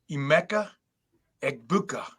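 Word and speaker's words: Emeka Egbuka: the game is Ema egg bua I repeat IMA egbuka that's for like you know the PA guy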